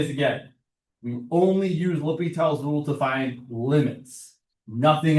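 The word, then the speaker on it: L'Hôpital: Don't say la hospital. It's ly. I mean, it's okay to say it wrong if you really want to, but it is a name. We try to pronounce it correctly.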